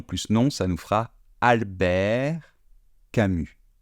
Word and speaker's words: Albert: Donc, prénom plus nom, ça nous fera Albert Camus. Je ne prononce pas le T final, je ne prononce pas le S final.